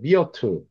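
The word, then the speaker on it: myrtle: 하다사는요, 요게 이제 발음이 좀 어려운데 미어틀이라고 그래요. 미어틀.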